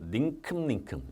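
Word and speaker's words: 닁큼: 원숭이는 먹이를 주는 대로 닝큼닝큼. 이 발음이 더 중요한데. 닝큼입니다. 닝큼. 물론 표기는 이렇게 쓰는 거 맞지만.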